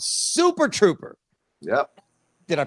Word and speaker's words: Super Trouper: It's an ABBA tribute called Super Trouper. Yep. Did I pronounce that right?